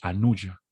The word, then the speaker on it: Anuja: sánscrito, perdón se dice anuya, se escribe, les voy a escribir aquí en el chat, se escribe Anuja, pero esa J en sánscrito se pronuncia como una Y.